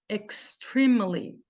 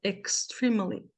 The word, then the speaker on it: extremely: vai ficar assim ó extremely extr o que que acontece aqui esse primeiro e tem um som de i e esse segundo e tem um som de A extremely tá bom Esta é